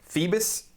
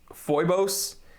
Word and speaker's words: Phoibos: Phoebus? Phoibos? If it's referring to mythology, I think it's pronounced Phoebus, although I'm sure 1,000 of you will correct me in the comment section, so I can't wait for those comments.